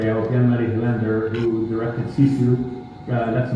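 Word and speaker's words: Jalmari Helander: We recently found released a film last year from, I'll pronounce his name correctly, Jan-Mari Hylander, who directed Sisu.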